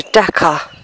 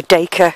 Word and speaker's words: Dacre: it takes you to Dhaka or daker whatever you'd like to pronounce it and then you can